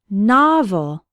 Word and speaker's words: novel: words Rock and not novel has two syllables and the stress is on the first one novel novel can be a